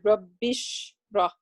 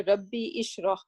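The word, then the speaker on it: رب اشرح: So that's why you are saying, you can see that we say rabbish rah. We do not say rabbi ishrah. Okay, why? Because something came before that.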